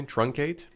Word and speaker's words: truncate: Am I pronouncing that right, by the way? Truncate? Truncate?